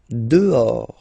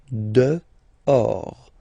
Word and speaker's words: dehors: Dehors. Okay, so remember final S not pronounced, and then this H in French doesn't exist phonetically, so you don't pronounce it. Dehors.